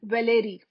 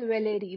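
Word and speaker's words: Valéry: gustav khan g-u-s-t-a-b-e k-a-h-n gustav khan and paul valerie paul valerie v-a-l-e-r-y let me tell you that edmund wilson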